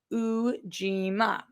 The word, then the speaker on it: Ujima: Oh, pronounced Ujima, meaning collective work and responsibility.